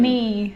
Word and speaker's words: knee: A K is not pronounced when it comes before an N like knife, no, เคมาหน้า n knee, จะไม่ออกเสียง knock, not, knowledge.